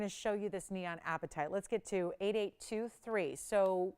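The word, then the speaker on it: apatite: that this is different it's spelled APA t-i-t-e appetite it's out of Madagascar and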